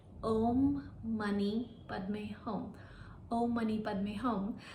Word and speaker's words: Om Mani Padme Hum: It's actually a soul mantra and it goes like Om Mani Padme Hum. Om Mani Padme Hum. And in Tibetan Buddhism, it is pronounced as Om Mani Padme Hum.